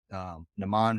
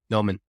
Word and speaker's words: Noman: Naman, who is in our group right now, or not Naman, Noman. Noman. I always mispronounce his name. I always call him Norman, but I think it's Noman with no R.